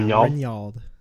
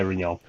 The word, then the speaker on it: Rinyald: Is that pronounced Rinyald? Yeah, Rinyald. Yep, you got it. Okay, Rinyald.